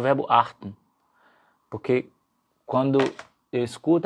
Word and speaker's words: acht: Então, achten. Achten. O número 8 para antes, para no T. É um T mudo.